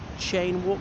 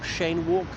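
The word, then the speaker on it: Cheyne Walk: I think it's pronounced Chain Walk, not Shane Walk.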